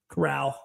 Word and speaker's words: Corral: from his injury and it is Corral. Took it over. Corral, yeah, that's the proper way to pronounce it.